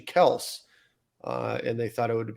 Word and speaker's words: Kelce: Their last name is actually Kels, and they thought it would be appropriate at the Super Bowl to say it's actually Kels and not Kelce.